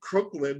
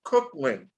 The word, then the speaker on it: Cooklyn: I know when I pronounced it, I said Crooklyn. No, it's not like the movie Crooklyn. It's everybody does it. Yeah, everybody does that. Yeah, it's it's Cooklyn. Cooklyn.